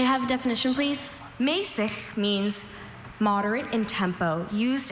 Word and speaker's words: mäßig: Mäßig means moderate in tempo, used as a direction in music. Mäßig. Mäßig. Not easy to say. especially that last consonant Mesig. sound at the end.